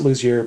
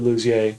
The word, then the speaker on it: Lussier: to my since so do you pronounce your last name lousier or Lussier then he goes I pronounce it lousier but it's technically Lussier my family is Lussier but because I live in LA and people don't speak French very well that's the way it works oh yeah so